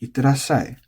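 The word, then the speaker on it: いってらっしゃい: that applies here because on paper it's itterashai, but you're going to hear a lot of people saying itterashai.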